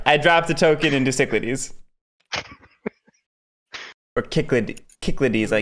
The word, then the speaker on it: Cyclades: plenty of people say cichlidies but that's wrong it rhymes with Everglades yeah so who's in